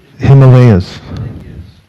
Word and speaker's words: Himalaya: Himalayas.